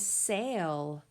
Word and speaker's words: sail: Next word is sail. S-A-L. Sail. I can hear that A saying its name A. And I can also see that silent E right on the end that is not pronounced.